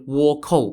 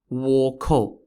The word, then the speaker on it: Wokou: The pirates we're going to talk about are the infamous East Asian Wokou pirates, who, for hundreds of years, terrorized the coasts of China, Korea, and occasionally other places like the Philippines.